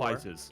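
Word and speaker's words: FighterZ: It's Fighters. I say fighters. Oh, no, I say Fire Z because I'm a fucking scrub.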